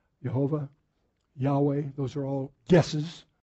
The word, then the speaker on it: Jehovah: or jojoba and but in the german the j is like a y so if it says jehovah because they don't understand